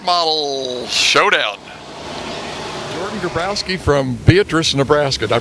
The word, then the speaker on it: Beatrice: with the late model Showdown Jordan grabrowski from Beatrice Nebraska did I pronounce that right Beatrice Nebraska yeah okay but a regular IMCA guy